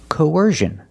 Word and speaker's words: coercion: vowels Co coer coersion coercion put the stress on the second syllable coersion coercion is a noun and coer